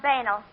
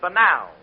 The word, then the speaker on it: banal: You've been pronouncing them words all wrong. What do you mean? Well, I found out in night school that the correct pronunciation is puerile and banal.